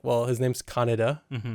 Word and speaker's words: Kaneda: And even in the original dub, they were like Canada. It's like Canada the whole time. And you're like, well, his name's Kaneda.